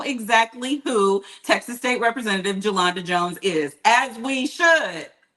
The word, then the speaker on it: Jolanda: My name is Jolanda. It is not Yolanda.